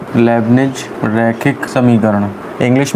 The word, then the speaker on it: Leibnitz: Type 6 रैखिक अवकल समीकरण या लेबनिज रैखिक समीकरण, इंग्लिश में इसे कहते हैं लीनियर डिफरेंशियल इक्वेशन, और लेबनिज को कहते हैं LEIB लेब, निड्ज, टी साइलेंट है, लेबनिज बोलते हैं हिंदी में बस केवल, लेबनिज डिफरेंशियल इक्वेशन।